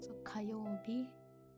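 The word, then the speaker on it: 火曜日: So kayobi. So this one has the fire kanji, but it's pronounced as ka, and it means Tuesday.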